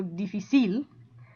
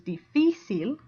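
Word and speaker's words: difícil: the stress difficile okay it ends in an l which is a consonant so should theoretically go difficile but that's not the way it goes it goes difficile so since the uh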